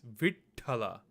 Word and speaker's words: Vittala: Bear in mind the proper pronunciation is Vittala. You hear like a slight pause between the V and then the ta.